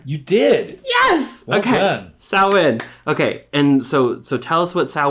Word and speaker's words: Samhain: Samhain. Okay. And so tell us what Samhain is, and tell us how casting a circle, like what the importance of that is, and why we do that. Samhain, All Hallows Eve.